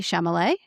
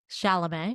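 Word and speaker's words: Chalamet: Um, hey, it's pronounced this way. So, the first one is the orange skit by Timothy Shamlet. Shalam.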